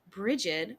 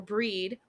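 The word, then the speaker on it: Brigid: Um, but one of the primary ones that I work with is a lady blacksmith, Bridget, or Breed, or Bridget. Right. She's pronounced a lot of different ways, but Mm-hmm.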